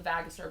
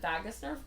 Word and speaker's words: vagus: the brainstem called the vagus nerve or vagus nerve depending on who it pronounces it now um I pronounce it vagus nerve because the root word is also the root word for vagabond which is why the